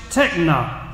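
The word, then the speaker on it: τέκνα: The word is pronounced techna. You go get the techna shot. We need a techna shot against the devil so we'll stand up for God. Amen, brother. Techna. The word is techna.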